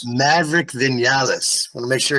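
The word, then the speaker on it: Maverick Viñales: who is with, and then how do you pronounce his name? Maverick Vinales. Maverick Vinales.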